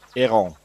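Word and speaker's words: héron: of the herin itself a heron in French is easy it's eron so same word just pronounced differently you see I'm not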